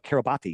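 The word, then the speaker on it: Kiribati: wide, and it's registered to the country of Kerabati. Have you ever heard of Kabati? It's pronounced Kerabat, but it's pron it's spelled Kabati.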